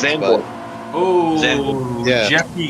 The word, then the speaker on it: Zandvoort: It's called Xander Top. It's a very tough name to pronounce. Zandvoort.